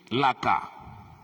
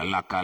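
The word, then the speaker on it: لَك: Ma'lumin laka. Kena berhenti dibaca lak lah ya. Jangan pula laka lagi kerana sebab dah berhenti.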